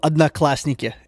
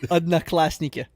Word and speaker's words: Одноклассники: The how is it pronounced? OK. It's short for the social media network is called OK. It's called Odnoklasniki, and it basically translates.